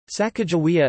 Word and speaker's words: Sacagawea: Sacagawea is the most widely used spelling of her name, and is pronounced with a hard G sound, rather than a soft G or J sound.